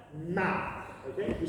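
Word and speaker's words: 妈: Now, if we take the sound, ma, okay, if we spell it in English, it'll be M-A. If we say it high up in the voice, it sounds like this. Ma.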